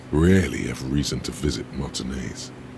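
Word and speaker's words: Martinaise: have reason to visit Martinez. I finally figured out a way to pronounce that. To remember how to pronounce that. Mayonnaise. That sounds exactly like mayonnaise.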